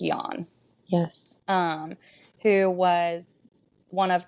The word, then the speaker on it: Jan: And then Jan, which is spelled like Jan, but it is pronounced Jan.